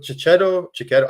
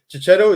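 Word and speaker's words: Checchetto: book, there's no look Chichetto. I don't know. Is Chichetto? Is that how you pronounce his name? Yeah, Right, yeah, Chichetto. shadow. But Chichetto is one of my favorite Spider-Man artists of all time.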